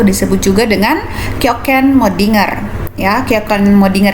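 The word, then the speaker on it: kjøkkenmødding: juga dengan kjokkenmoddinger ya Kapten modinger ini dari bahasa Denmark ya pelafalannya juga seperti bahasa Denmark kita aja itu dibacanya dengan yo yo Ken moddinger kita kemudian di tahap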